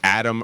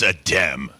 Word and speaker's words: Adem: I was wondering if that's pronounced Adam or Adem. It's Adem.